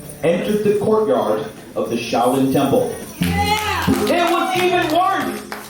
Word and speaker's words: Shaolin: Little is Shao in Chinese, her royal highness sneered, and forest is pronounced Lin. Ask for the Shaolin Monastery.